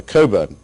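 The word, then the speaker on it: Cockburn: I should say that Alexander Coburn to pronounce his name correctly is a very valued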